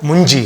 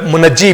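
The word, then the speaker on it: منجی: लफ्ज जब मुंजी कहा जाए, बाद मुनज्जी कहते हैं, मगर सही प्रोनाउंसिएशन जो है वो मुंजी है, मगर मुनज्जी भी लोग कहते हैं तो चलता है।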